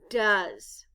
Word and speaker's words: does: d o e s the letter O stands for the sound u in do but in the word does the O stands for the short u sound ah the